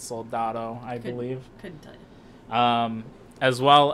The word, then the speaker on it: Soldado: sicario day of the Soledad or soldado however it said I know I just said it wrong but it's soldado I believe um as